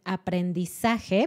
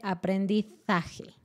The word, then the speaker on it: aprendizaje: Y también las letras Z también se pronuncian así. Entonces, en vez de decir aprendizaje, pon atención cuando veas esa palabra en la pantalla, ella dice aprendizaje.